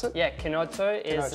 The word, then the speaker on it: Chinotto: So Chinotto, is that the best way to pronounce it? Yeah, Chinotto is it's an Italian soft drink.